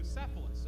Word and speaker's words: Bucephalus: Bucephalus.